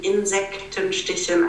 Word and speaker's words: Insektenstichen: And leave enough space for all the syllables in Insektenstichen. I know it's a complicated word. So we have Insekten, 3 syllables, Stichen, 2, 5 altogether. And every syllable wants to be read.